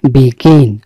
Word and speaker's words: begin: শব্দটি কেন দেই জানেন উচ্চারণটি খেয়াল করবেন কোথায় আসলে জোর পড়বে গ তে গিয়ে জোরটা পড়বে অর্থাৎ জি তে বিগিন এই যে উচ্চারণ করলাম উচ্চারণটা দেখবেন যে দেশের বাইরে এভাবে উচ্চারণ করে সুতরাং বিগিন মানে কোন